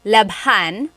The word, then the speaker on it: labhan: And here it is, labhan. We had to add an H there just for pronunciation. That's kind of how they make the word flow.